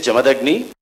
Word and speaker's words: Jamadagni: as interesting as possible my name is jamadagni just to correct the pronunciation and i'm a professor